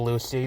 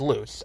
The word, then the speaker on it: Luce: name in the movie I thought it was a Lucy but it's loose oh you see which